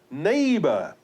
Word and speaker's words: neighbor: Then we have neighbor. E-I-G-H is pronounced as A.